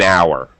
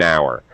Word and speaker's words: hour: But an hour, because the H in hour is silent. So we say an hour.